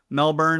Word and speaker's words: Melbourne: colleague coming to us all the way from Melbourne Australia sorry Maria I I baltimor that thing